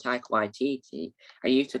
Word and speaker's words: Waititi: Now, before I found out how you pronounce Taika Waititi, I used to call him Taika Waititi.